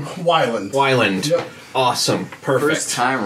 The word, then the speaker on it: Weiland: do you say your last name is it Wilin Whelan Wilin Wilin perfect time right well I love it it's